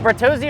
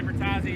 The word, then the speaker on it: Bertozzi: Is it Bertozzi or Bertazzi? How do we pronounce this? I heard him say Bertazzi years ago, and I stuck with it. I've been saying it wrong this whole time.